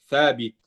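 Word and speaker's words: ثاء: français ça du coup on se trompe souvent et on et on dit sin exemple au Maroc ils vont Ils vont remplacer le tha par le ta souvent.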